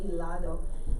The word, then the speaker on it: helado: El helado. It's spelled with an H, but they don't pronounce the H, so helado.